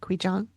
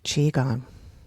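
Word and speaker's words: qigong: I can't remember how that's pronounced. I want to say it was qui jang, but that's not how it's spelled. Anyway, it'll serve as an emotional release. This is Amy from the future. I do know now that it is pronounced chiong.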